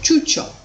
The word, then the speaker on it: ciuccio: So now we write ciuccio. We have a soft sound ch.